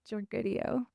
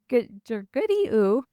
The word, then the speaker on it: Georgoudiou: Did I say it right? Yeah. Georgoudiou. Georgoudiou.